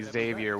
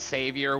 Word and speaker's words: Xavier: It's supposed to be Xavier with a Z. If they're telling you it's Savior with an S, then they don't know.